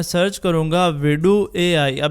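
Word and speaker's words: Vidu: अब मैं जैसे इसको यहाँ पे सर्च करूंगा तो ये पहले वाली वेबसाइट है विडू AI, जिसको कुछ लोग वीडियो AI भी बोलते हैं बट इसके स्पेलिंग कुछ और ही है।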